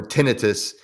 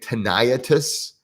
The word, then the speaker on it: tinnitus: one up that and i was pronouncing it teniatus and somebody made fun of me and he made some